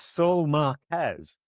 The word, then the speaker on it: Saul Marquez: I actually, for once, sang the name wrong. I usually sing it right and say it wrong. It's Saul Marquez.